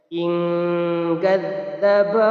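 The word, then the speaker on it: إِن كَذَّبَ: In kadzdzaba harus dibaca samar. Ing. Kemudian tambah dengan pendengung. Ing. Hanya 2 harokat saja lamanya. In kadzdzaba wa tawalla.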